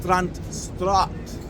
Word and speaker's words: Strandstraat: But Strand Street, that's not the way you pronounce it. The actual name is Strandstraat.